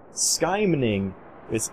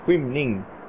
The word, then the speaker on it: skymning: And now, we go into a Swedish word, skymning, which is probably how people would pronounce it, but it's skymning, which sounds nothing like what it said on the screen, but let's do it.